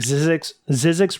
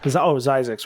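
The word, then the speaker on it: Zzyzx: I actually drove this road, when I drove it, there was like Zizix Road, I think is how they pronounce it. Z-Z-Y-Z-X. Yeah, Zizix. Zizix.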